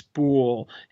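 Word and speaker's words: Boulle: have told me that it's boule that rhymes with pool. So when I'm talking about Bleep Bleep Planet from now on, it's Pierre Boule.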